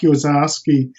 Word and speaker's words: Orszaczky: to play with was a man named Jack Ozarski. That's spelled Orszaczky, Jack Ozarski, and he was the guy to play with.